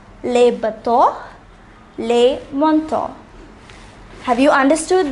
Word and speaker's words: bateau: The next word is bateau.